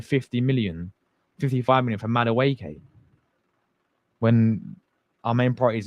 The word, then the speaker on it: Madueke: Am I pronouncing his name wrong? Is that you say it? Madueke, not Madueke. My bad, people.